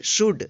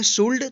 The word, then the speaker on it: should: तो यहाँ पे देखिए डी से पहले क्या आया है? एल आया है, इसलिए यहाँ पे एल का उच्चारण नहीं हुआ है। इसको यदि आप पढ़ते हैं शुल्ड तो ये गलत हो जाएगा।